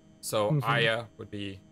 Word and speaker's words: Aya: the game because in most of the world they use that type of a for the name so Aya would be a-y-a-ay Aya uh the same